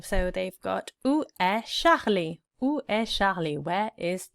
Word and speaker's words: Charlie: So they've got Où est Charlie? Où est Charlie? Where is Charlie? Où est Charlie? And we know, don't we, that the CH is a sh sound in French.